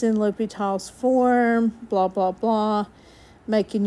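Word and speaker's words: L'Hôpital: I know y'all don't know what L'Hopital's rule is yet. However, this is big for L'Hopital's rule. It's spelled L hospital, kinda. It's called L'Hopital.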